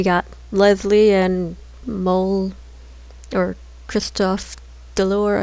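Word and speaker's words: Christophe DeLorne: Leslie and Mole, or Christophe Delore, I believe is how you say his name correctly.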